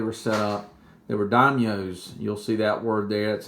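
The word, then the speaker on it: daimyo: the way they were set up they were dinos you'll see that word that's how you say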